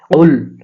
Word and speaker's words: قل: কুল, এই কফটা জিহ্বার গোড়া তার বরাবর তালুর সঙ্গে লাগাইয়া উচ্চারণ করতে হবে।